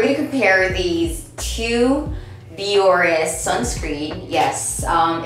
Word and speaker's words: Bioré: to compare these two biores sunscreen yes um it is pronounced as biore i did a little research next research but yes